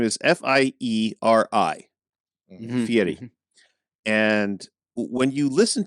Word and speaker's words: Fieri: he changed it to Fieri now it's spelled f-i-e-r-i but in Italian the way you pronounce your r's it sounds like a t or a d yeah so because in